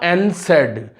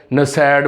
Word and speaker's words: NSAID: काफ़ी बच्चे मैंने अपने टीचिंग एक्सपीरियंस में देखा है वो जो है इसको नसैड बोल देते हैं, गलत प्रोनाउंस कर देते हैं। दिस इज कॉल्ड एनसेड ड्रग्स, एनसेड, ठीक है, एनसेड इसको बोला जाता है।